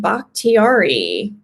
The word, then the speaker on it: Bakhtiari: David Bakhtiari. We worked on that so much pre-show. We did. We did actually have the pronunciation right, but you got to just double check.